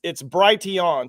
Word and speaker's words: Brighteon: It's Brighteon. So like bright and then EON. So BRIGHT.